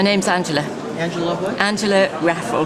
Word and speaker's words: Raffle: Angela Raffle. How do you spell that? Same as raffle tickets, R-A-F-F for Freddie, L-E.